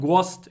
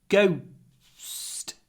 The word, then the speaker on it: ghost: It's not ghost, it's ghost. There's a w in it. G, w, little pause, st.